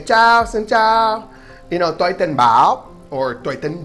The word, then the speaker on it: tôi: So, next, you got to know tôi tên. Tôi means I, of course. Tôi, and it's pronounced like English T-O-Y. The O has a little circumflex over it, so tôi.